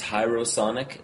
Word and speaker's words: Hierosonic: The band name is Hierosonic. That's like hieroglyphics.